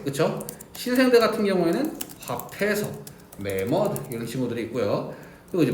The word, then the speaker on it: 매머드: 신생대 같은 경우에는 화폐석, 매머드 이런 친구들이 있고요. 그리고 이제 맘모스 vs 매머드인데요. 뭐가 맞는 표현 같습니까? 매머드. 자, 맘모스는요 일본식 발음입니다. 그래서 이제 알아두시면 좋고요.